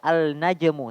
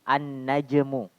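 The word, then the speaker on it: النجم: huruf setelahnya seperti sini najmun bukan dibaca alnajmu tapi annajmu annajmu asal penulisannya itu tidak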